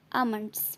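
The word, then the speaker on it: almonds: इसमें L silent है। आमंड्स मतलब बादाम।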